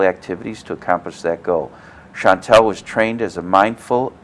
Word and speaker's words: Shantal: and our guess is Chantal Alonso did I pronounce it correctly Chantal Chantal okay well I'll read your bio and then